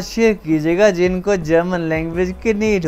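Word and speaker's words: Knie: देखने में तो ये नहीं ही है, लेकिन इसमें आपने के भी प्रनाउंस करना है। दस कनी, देया से टो, पाँव की उंगली को से कहते हैं।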